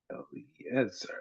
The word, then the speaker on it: Eliezer: Eliezer, yeah, I said it right.